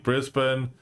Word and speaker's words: Brisbane: Petro, Marcel, PVO, Clear for JC, Brisbane, Marel, Clear, and Napoli for Hra. Um, chat, it's pronounced Brisbane, not Brisbane, just letting you know.